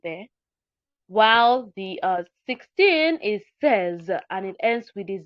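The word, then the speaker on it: seize: sis is pronounced sis and um 16 is pronounced says okay says so the difference here is the e i z e in the in says an ix in a six.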